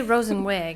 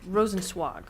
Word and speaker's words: Rosenzweig: I say Rosenweg, and I know that's wrong, so it's Rosenzweig.